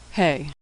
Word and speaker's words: Hey: Hey is pronounced like the H in hello. Like H in English, it's silent at the end of words. Hey.